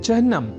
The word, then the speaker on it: चिह्न: यहाँ हमने चिन्ह के उच्चारण और लेखन पर दिया है विशेष अवधान, अर्थात चिन्ह में अर्ध हकार के बाद न इस अक्षर का संयोग होता है, न